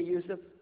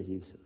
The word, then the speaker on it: Yusuf: Can you say Yusuf? Let me say Yusuf.